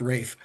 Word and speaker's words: Ralph: It's it looks like Ralph, but it's pronounced Rafe Rafe Fines.